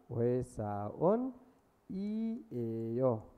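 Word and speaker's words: 회사원이에요: होइसा उन इ एयो अब यसको उच्चारण के हुने भयो उच्चारणलाई फारुम भन्छ फारुम के हुने भयो त होइसा ओ नि एयो होइसा ओनी एयो होइसा ओनी एयो यसरी है ल अब कुनै पनि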